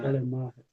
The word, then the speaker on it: Schleiermacher: No alemão mesmo, nós temos que dar uma ênfase maior no ma, né? Aí fica Exclamacher, né? Schleiermacher, tá certo.